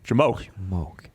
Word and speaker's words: JMOQ: Jamoke. That's how I pronounce it.